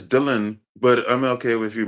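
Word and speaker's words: Delan: No, it's Dylan, but I'm okay with you mispronouncing it. It's a weird name to say, but it's Dylan. Dylan, okay, mate. Usually I'm used to D-I-L-L, but D-E-L-A-N is Dylan.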